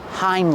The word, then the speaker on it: hind: We call them hind legs. These are the bear's hind legs. Pronunciation, use the long I, like find and kind. Hind. Hind legs. Like the word behind. Get it?